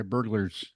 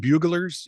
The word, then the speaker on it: burglar: strategy being used by burglars. Are they? Is it pronounced buglers in Wales? No, there's an R there. Oh, actually, it's pronounced burglar. It's probably pronounced because it's Welsh after all.